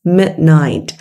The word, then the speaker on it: midnight: Ở đây các anh chị để ý giùm tôi nghe cái từ mid. Nó là âm y ngắn. Không đọc là mid mid, mà nó sẽ là e, mid.